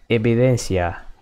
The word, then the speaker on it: evidencia: Evidence is evidencia, evidencia, evidencia. How do you say, evidence? Evidencia. The letter V sounds like a B.